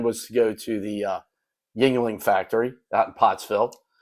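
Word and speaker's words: Yuengling: Well, our original plan was to go to the Yingling factory out in Pottsville. If you're from Connecticut, you pronounce it Yoling.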